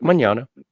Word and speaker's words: Magnano: Yep, Vic Magnano.